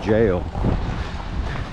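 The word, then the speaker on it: gaol: Richmond go historic site you can see the spelling their G AOL Richmond jail is how they is how they pronounce it I'll go see if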